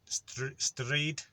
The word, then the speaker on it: stryd: Wales, if it says stryd, so you kind of say this one how it's spelled in English kind of thing, STRYD, stryd.